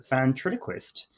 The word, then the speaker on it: ventriloquist: elite Hollywood because her father was a famous ventriloquist on the radio.